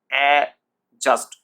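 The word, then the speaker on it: adjust: অ্যাডজাস্ট, আমার সাথে উচ্চারণ করুন, অ্যাডজাস্ট। ডিটার উচ্চারণ আসছে না, অ্যাডজাস্ট।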